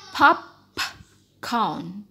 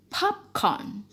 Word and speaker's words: popcorn: nya disini popcorn popcorn jadi ini enggak boleh dibaca Hop count tidak tapi dibaca popcorn ini yang kedua Selain